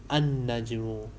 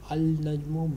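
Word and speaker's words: النجم: In those words, we are pronouncing alif, but in haruf shamsiya, lam becomes silent. So we read an-najmu. We write al-najmu, but we pronounce an-najmu.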